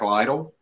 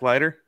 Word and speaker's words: Leiter: Jack, I always mess his name up. Jack Lytle. Is that how you say it? The Vanderbilt pitcher. Oh, Jack Leiter? Leiter.